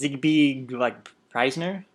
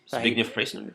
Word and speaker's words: Zbigniew Preisner: It's hard to pronounce. It's Zbigniew Preisner. Zbigniew Preisner.